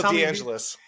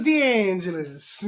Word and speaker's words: D'Angeles: how do you how do you say your last name you got you gotta put the the Tommy hand up d'angeles deangeles of angels think about it God I wish my